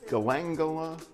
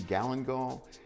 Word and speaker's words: galangal: And then the other is called Galangal. Did I get that right? Galangal? I've heard it called Galangal, but I think the consensus seems to be Galangal.